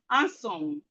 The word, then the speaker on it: handsome: So we have handsome. We have grandfather. Landscape. Handwriting. Landlord. So the D here is silent.